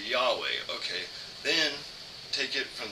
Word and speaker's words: Yahweh: is stupid or or Jehovah or some form of Jehovah but nowadays we know that Scholars all agree that the name of God is pronounced Yahweh because it was written in Hebrew and not whatever they